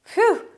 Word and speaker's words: whew: Whew, that's how you pronounce it.